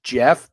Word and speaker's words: Geoff: Also, I found Corey Connors is playing with someone named Jeff, but it's spelled Geoff Yang.